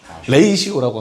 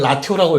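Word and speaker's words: ratio: 라시오라 레이시오라고 합니다. 레이시오. 나도 어렸을 땐 라티오라고 읽었어.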